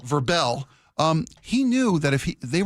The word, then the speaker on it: Vrabel: Because Vrabel, excuse me, and even I'm learning how to pronounce it, unlike the NFL honors. You mean Verbel? Verbel.